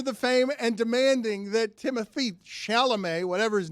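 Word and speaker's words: Timothée: fame and demanding that Timothy shalam whatever his name is I can't pronounce his first name it's the first name I have trouble with because it's not Timothy Timothy it's not it's timot get over yourself well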